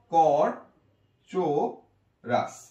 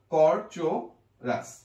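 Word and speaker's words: Corchorus: এটা হবে কর, আমি এটা একটু মুছে দিচ্ছি, কর চো রাজ, কর চো রাস। দেখি আমরা, কর চো, কর চো, অনেকে কো দেয়, কর চো রাস।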